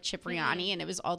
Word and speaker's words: Cipriani: He took me to, how do you pronounce it? Cipriani? Cipriani, yeah.